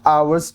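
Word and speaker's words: hour: है इट is dash आवर्स distance from here अब देखिए यहां पे आवर यूज हुआ है आवर starts with a silent H एंड अ वाल साउंड सो आर्टिकल एन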